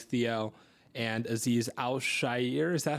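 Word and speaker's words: Azeez Al-Shaair: They also retained Dalton Schultz, and they brought in Danico Autry, who I know you like, Theo, and Aziz Al-Shair. Is that how you pronounce that?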